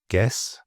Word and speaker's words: guess: So the U is really just there for spelling and clarity. It's not for speaking, as these examples show. So guess, guitar, guard, guest, and biscuit.